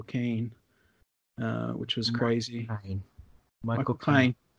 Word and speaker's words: Caine: Michael Caine. You pronounce it as in My Cocaine. Michael Caine.